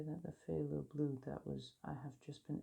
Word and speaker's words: phthalo: Considering you just pronounce it as if it is like a normal F. Just a F. Just nothing fancy, just a F. Yet they went PHTH, I think.